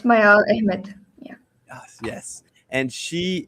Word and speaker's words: Mayaal Ahmed: Today we have Mayaal Ahmed, right? Am I pronouncing that correct? Yeah, Um, it's Mayaal Ahmed.